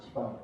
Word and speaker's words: 시방: 근데 십방 그러면 십자에 비읍하고 방자에 비잖아요. 무슨 인사이라고 하지, 한글로? 무슨, 이제 문법을 뭐라고 합니까? 겹치면은. 접변 현상 되잖아. 자음, 접. 그러니까, 시방이에요, 시방.